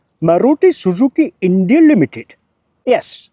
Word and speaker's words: Maruti Suzuki: It's true that the company which manufactured this car is this, and it's pronounced Maruti Suzuki India Limited.